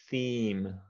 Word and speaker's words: theme: hard one yeah so it's basically the letter e theme theme okay longer a little bit longer it's long uh-huh theme okay yeah okay it's a it's a long e vowel sound yeah if e is